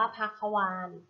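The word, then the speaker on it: ภควาน: ว่า ถ้า เข้า วาฬ ถ้า เข้า วาน อ่าน ว่า พรรค คะ วาน ถ้า เค้า วาฬ ประกอบ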